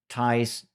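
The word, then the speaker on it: Tighe: mystery and that has to do with like Tai's biggest Desire by the way Tai some some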